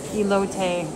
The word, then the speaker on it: elote: They have the elote. Is it elote? Is that how you pronounce it?